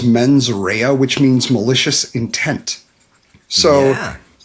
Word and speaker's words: mens rea: And I'm really bad with my Latin, but I believe it's pronounced as mens rea, which means malicious intent.